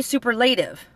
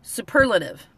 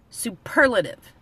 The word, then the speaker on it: superlative: ve now you would think it would be superlative but it's pronounced superlative the emphasis is on the PE RL superlative so before you even get into the you